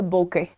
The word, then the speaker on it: bokeh: Next देखते हैं, what is अ बोके? बोका is the pronunciation as far as I'm concerned.